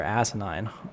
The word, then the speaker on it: Asinine: It's ASI space 9. And I didn't brilliant. Right, and I didn't get it at first because it like obviously it's set up to break the the filter. So he was like, "No, I'm Senator Asinine." He's like, "Just like it's just like it's pronounced."